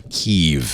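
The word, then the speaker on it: Kyiv: Here is the metro in Kiev. It's amaz I'm sorry, Kev.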